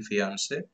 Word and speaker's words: fiancé: I mean the same pronunciation for masculine and feminine fiancé. Please note the spelling. The spelling is different, but we have the same pronunciation.